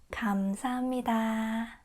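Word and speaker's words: 감사합니다: Foreigners find it uh difficult to differentiate the letter k um and g. So, it's kam, not kam. K k, no. G g, yes. So, uh think of the country Ghana. It's like that, ga. But, subtle Korean way. Kamsahamnida, not kamsahamnida. You see the difference?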